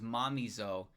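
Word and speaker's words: Mamizou: I've always pronounced Mamezo as momo rather than it being pronounced as Mamo.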